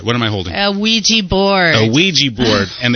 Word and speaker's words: Ouija: am i holding a Ouija board a Ouija board and they spell it weird but it does say it does I guess it's pronounced Weegee I write a Ouija board